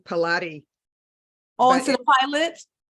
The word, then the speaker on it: Pilate: So in the beginning, I was mispronouncing. I was giving it a Spanish pronunciation as when I was doing Pilates, and I couldn't figure it out, but I got it.